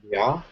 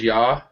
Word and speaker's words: yaw: In a way, yeah, like yawn without the N, just Y-A-W.